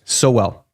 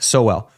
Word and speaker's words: Sowell: Sowell. Yeah, so he's just pulling it up from the East. Aiden pulled it up from the Eastern Carolina. Sowell. S-O-well. That's a pronunciation guide.